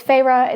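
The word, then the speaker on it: Feyre: should be protecting no once again it's farra it's always F the F basically yells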